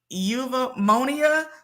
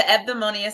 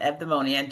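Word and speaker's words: Eudaimonia: It's the Evdamonia Center. The EU is pronounced as an EV, and the rest is demonia, Evdamonia, just like that.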